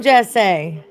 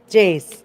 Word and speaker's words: Jace: Where are you from, Jesse? Just Jace. Oh, it's Jace. I'm sorry, Jace. Is that how you say it?